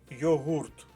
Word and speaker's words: йогурт: то ви помітите що перше слово має наголос саме на другому у складі йогурт на зночнмт якщо ви